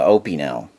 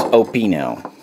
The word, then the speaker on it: Opinel: to be my take on the Opel no I didn't mispronounce it I don't believe from everyone that I've ever met da da da and this is of course a French made in Sawa France Carbone which is carbon steel um it is opino I'm not going to